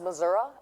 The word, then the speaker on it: Missouri: you know that's a Missouri in case you don't know St Louis yeah oh really wow oh I appreciate the clarity there Deon really excited to be here it's pronounced Missoura actually Missour sure we'll go with what